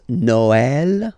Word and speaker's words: Noël: The last one, tréma, well, basically it's quite rare, and the tricky thing is that in some cases you will have to pronounce it like eh, okay, like for instance Noël, okay, but then in